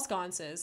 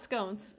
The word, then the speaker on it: sconce: Oh, you mean wall sconces? No, it's not scones. It's sconce for sure.